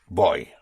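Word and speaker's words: voy: and the V pronounced with your lips like a like a B.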